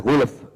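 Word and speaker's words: غلف: Ghulf ini ada fa disukun, kemudian lam juga disukun. Dan ini waqaf. Qulubuna ghulf. Cara bacanya, lam jangan sampai kita baca pepet, istilah Jawa. Pepet itu membaca le yang berkepanjangan. Jadi tidak boleh membaca ghulf, tidak boleh. Hanya sekedar lam sukun yang kemudian kita sambung dengan fa sukun.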